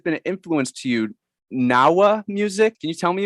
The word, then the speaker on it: Gnaoua: across something that's been an influence to you, Gnaoua music. Can you tell me about that and what about it's like so moving and inspiring to you? Well, it's mostly pronounced Gnaoua, Gnaoua.